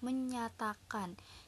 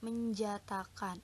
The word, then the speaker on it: menjatakan: itu seperti ini ya misalkan kita nih menjatakan itu kita bacanya menyatakan Jadi huruf j ini dilebur menjadi huruf y ya Sehingga jadi menyatakan bukan menjatakan seperti itu Nah untuk